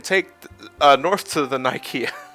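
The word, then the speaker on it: Nikeah: uh North to the nikea I want to call it nikea I mean it's how it's pronounced it pronounced uh but there was a recent mudslide it's Nika uh yeah I know that's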